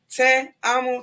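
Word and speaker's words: Teamo: pronounce that right but her first name is in spanish and it says i love you so it's te amo t-e-a-m-o it's not let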